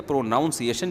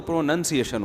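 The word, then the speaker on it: pronunciation: تو ہمارے استاذ نے بتایا تھا پروناؤنسیشن نا، تو کسی نے بتایا پروناؤن تو ٹھیک ہے، پروناؤنسیشن جب ہوگا تو پروننسیشن ہوتا ہے.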